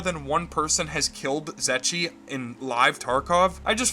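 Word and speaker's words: Zryachiy: Zetchi.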